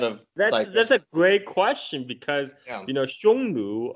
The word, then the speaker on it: Xiongnu: A great question, because Xiongnu, or that's in the modern Mandarin pronunciation. Back in the days, he's probably pronounced something like Hongnu, because the Sanskrit, according to the Sanskrit transcription, they're called Hunna, right?